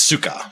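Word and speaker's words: Sukkot: night of suck it it's Suka but it looks like suck it heggy was the uh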